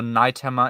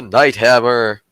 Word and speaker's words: Night Hammer: the audiobook because yeah it's pronounced the same yeah like night as in day night it's before and then